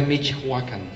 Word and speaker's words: Michoacán: de pronunciación en realidad la pronunciación correcta sería michacan michacan qué otro lugar hay que se llame michacan Michoacán desde luego entonces estamos